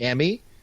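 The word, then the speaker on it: Emi: opponent what I can't pronounce her name properly a me is that how you pronounce it so Emmy Sakura yeah I mean so Sakura okay she's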